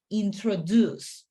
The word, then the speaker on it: introduce: word introduce okay so remember the stress the stress uh part in that word is the last part introduce okay okay so that